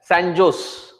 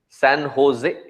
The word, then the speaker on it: San Jose: like coming from India we would always say it as sanos it's only after coming here we recognize that it is San Jose what happened to the J in the Spanish language J becomes h so maybe in the